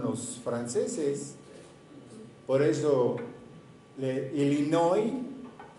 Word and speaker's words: Illinois: no en algunos décimos illinois y por pues porque así se escribe pero él y no oyen porque los franceses no pronuncian la última letra en ciertas palabras entonces muchas muchas lugares